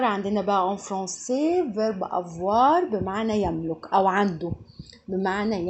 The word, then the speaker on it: avoir: verb avoir عندنا بقى en français verb avoir بمعنى يملك أو عنده بمعنى يملك أو عنده. verb a ركزوا بقى av الاو اي تتنطق واو والار تنطق في نهاية الكلمة فبقول avoir او avoir verb ايه يكون.